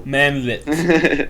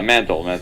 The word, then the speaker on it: Mantle: Anthony Dodd Mantle. Oh, I thought there was the L before the T, and I was like, "There's no fucking way that name sounds Mantle. Manlit." No, Mantle.